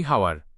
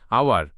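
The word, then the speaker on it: hour: 60 minutes make an আওয়ার 60 মিনিটে এক ঘন্টা হয়। এখানে আওয়ার এচ অনুচ্চারিত। পরবর্তী সাউন্ড ও দিয়ে উচ্চারণ শুরু হয়েছে। আমরা ভুল উচ্চারণ করি হাওয়ার। সঠিক উচ্চারণ আওয়ার।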